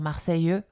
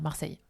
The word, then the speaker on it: Marseille: Hein, les gens de Marseille, donc du sud de la France, vont prononcer le E puisqu'ils ont un accent du sud. Notamment, ils vont dire Marseille, comme ça, alors que nous, on va dire Marseille.